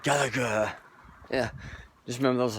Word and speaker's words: Gallagher: do you pronounce it do you say say Galaga galag he said Gallagher yeah just remember that